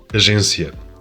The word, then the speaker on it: Agência: A j sound. In Spanish we have, Agencia. and in Portuguese we have. Agência. This is another example of a difference in soft consonants. In both languages, the letter G represents a soft G sound rather than a G when it's followed by an E or an I. But the soft sound is different in either language.